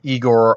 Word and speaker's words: Igor: I know in later films it was always Igor or Igor, depending how you pronounce it.